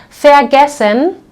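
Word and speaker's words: vergessen: many other verbs and we will always pronounce this like fair fair gessen we already saw this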